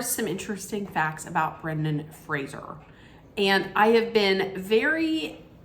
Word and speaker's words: Fraser: I had always said Brendan Frazier but it's really not it's Fraser like razor so that's why I consciously make sure that I say Fraser every time every time